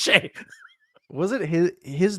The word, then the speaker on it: Skjei: She goes, "How is SKJEI Shea?" I said, "I don't know. Just trust me, it's Shea."